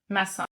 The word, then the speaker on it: Maçon: How do we pronounce it? Maison.